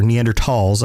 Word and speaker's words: Neanderthal: and then we had neanderthals or neanderthals I believe is the actual pronunciation of that and then